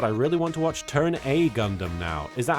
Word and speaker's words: Turn A: Turn A is how you say the upside down A in the context of Gundam.